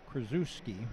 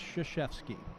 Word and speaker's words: Krzyzewski: It looks like Krzyzewski, but it's pronounced Krzyzewski.